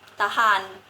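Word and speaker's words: ทหาร: Tetapi Rora di sini diletakkan di akhir suku kata dengan kata lain. Eh, final sou-nya tidak bersuara re, tidak r tetapi ne. N berubah jadi n. Jadi dibacanya tahan.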